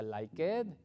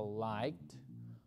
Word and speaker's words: liked: I always liked, no se pronuncia like it, okay, sino liked.